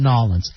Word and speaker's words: New Orleans: know, honestly, you say New Orleans. The people that live there, though, they call it Nolans.